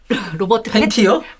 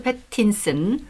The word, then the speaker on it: 패틴슨: 사실 팬티요? 로버트 팬티요? 죄송합니다. 아니 무슨 생각을 하고 계신 거예요? 사람한테 팬티라니. 죄송합니다. 정확하게 발음했어야 되는데 로버트 패틴슨. 네, 패틴슨. 패틴슨. 그 유명한 영화 갑자기 제목이 또 기억이 안 나냐?